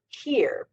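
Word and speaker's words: hir: So, for example, some people want to refer to themselves as Z, that's spelled Z-E, or here, pronounced spelled H-I-R.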